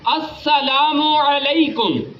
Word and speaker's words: السلام علیکم: السلام علیکم، السلام علیکم، السلام علیکم، السلام علیکم، وعلیکم السلام.